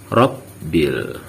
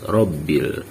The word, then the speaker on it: rabbil: Itu jangan sampai kita terbaca seperti rabbil, harus rabbil. Kalau ditulis huruf Latin itu adalah 2 huruf B, bukan huruf P1, huruf B1, bukan seperti itu.